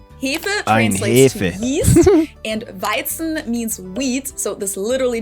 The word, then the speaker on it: Weizen: for English native speakers, the tricky parts here are the W, which in German is pronounced like an English V sound, v, and the Z is pronounced like a TS sound. So we say Weizen. Weizen. And Hefe has that E sound that I also have in my name, which doesn't really exist in English, unfortunately, but that's okay.